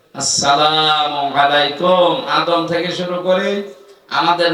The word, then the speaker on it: আসসালামু আলাইকুম: শান্তির সাথে প্রবেশ করেন এ শব্দটাকে যারা এখনো পর্যন্ত উচ্চারণ শেখেননি তাদের কপাল নষ্ট হওয়া না আজকে থেকে ঠিক করে নিবেন আসসালামু আলাইকুম আদম থেকে শুরু করে